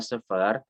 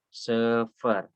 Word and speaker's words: sıfır: Itu ada pertama sıfır ya, 0 itu adalah sıfır, sıfır ya. Ini sekali lagi dibacanya kalau ada i tanpa titik dibacanya e menjadi sıfır ya.